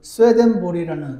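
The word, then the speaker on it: Swedenborg: 말씀을 나누겠습니다 여러분 가운데 스웨덴보그 스웨덴보리 사람의 이름을 들어보신 적이 있으신지 모르겠습니다 정확한 이름은 임마누엘 스웨덴보그 적혀 있던데 스웨덴 사람이어서 아마 그나라 발음으로는 스웨덴 보리라고 부르나 봅니다 1688년 1월 달에 태어난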